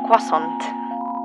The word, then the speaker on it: croissant: Wait, it's just a croissant. Or croissant. That's how you correctly pronounce it.